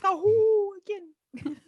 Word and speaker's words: Sahuagin: The proper pronunciation is Sahuagin.